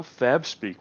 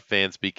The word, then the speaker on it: FabSpeak: a life chest and also you pronounced wrong it's how fab speak we're officially changing the title I'm sorry it's not fan speak it is fab speak request not from booster